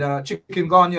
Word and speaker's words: chikungunya: You did mention Zika and chikungunya, and chikungunya as it's pronounced, and then it's filariasis, and then the